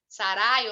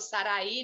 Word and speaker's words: Sarai: Sarai ou Sarai, né? Qualquer uma das duas maneiras de pronúncia aí, e Agar, a